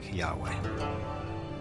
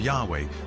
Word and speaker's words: Yahweh: was these four letters which in English would be YH wh which we think were probably pronounced something like Yahweh but Yahweh only appears